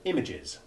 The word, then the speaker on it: images: as short e3 the word images gives a perfect demonstration contrast the full short